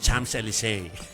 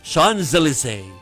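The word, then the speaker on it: Champs-Élysées: ng pagpo-pronounce ano yung sa atin it's Chams Elise pero kapag nandon ka it's Sean Zelise na yung lugar doon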